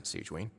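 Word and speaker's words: Sigewinne: But thank you for your concern, Sigewin. Sigewin. Tamam. Then you must be here for those two. Evet. Allow me to introduce you. This is the infirmary, and Sigewin here is the Fortress of Merapede's head nurse.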